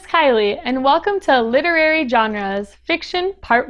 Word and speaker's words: genre: it is actually pronounced genre it may seem a little odd but it is pronounced this way because it comes from the French word spelled and pronounced the same way genre in French it